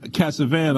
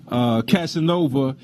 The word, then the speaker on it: Casanova: police officer Steve Katz of Casavant Oh Casanova pardon me let me say it right Casanova he shot and killed